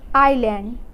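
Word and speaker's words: island: जैसे कि यहाँ पे एस के बाद एल आया हुआ है तो तो यहाँ एस जो है हम लोगों का साइलेंट होगा। जैसे आइलैंड, आइलेट।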